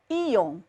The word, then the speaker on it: íon: Então, íon, sílaba tônica é o I.